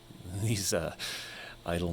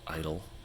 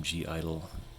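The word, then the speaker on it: (G)I-DLE: I'm pretty sure the correct pronunciation of the group is just Idol.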